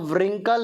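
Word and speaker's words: wrinkle: आ रहा होगा वह डब्लू साइलेंट होगा लिखा रिंकल है परम रिंकल्स पढेंगे डब्लू साइलेंट रहेगा सिर्फ क्या पढेंगे रिंकल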